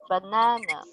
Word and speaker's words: banana: For example, in the word banana, it's on the second syllable, while in the word orange, it's in the first syllable.